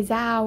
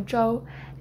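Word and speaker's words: Zhou: and long story short my last name is joe but people don't know how to pronounce that so they usually say zao or zoo and i've kind of you know became accustomed to just saying zao even though my real name is joe and you know there's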